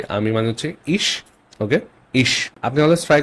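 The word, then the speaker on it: ich: সো প্রথমটা হচ্ছে আমি, যেটা আপনি অলরেডি জানেন যে আমি মানে হচ্ছে ইশ, ওকে, ইশ। আপনি অলওয়েজ ট্রাই করবেন আমার প্রোনাউন্সিয়েশনটাকে নোটিস করার, ওকে। কিভাবে বলছি আমি, ইশ, ইশ, এটা ইখ না, এটা ইশ।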